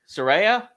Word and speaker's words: Saraya: Why do I? Saraya? Yeah, I said it right.